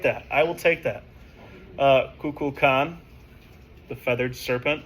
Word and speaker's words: Kukulkan: You missed the L. Yeah. I didn't say the L. No, Is it's it all right. Kukulkan?